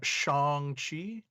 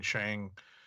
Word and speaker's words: Shang-Chi: Also of note, he tweeted that the pronunciations May 2nd, that it's a Simu Liu and Shang-Chi. So it's definitely a tough habit for myself to break, because I've even caught myself saying Shang recently.